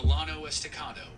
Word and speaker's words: Llano Estacado: time the Comanches while the Llano estacado that's the American pronunciation of the Spanish name that means the staked